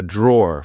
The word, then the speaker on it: drawer: said be careful because in British English we don't pronounce the e e at the end we just say draw here we have my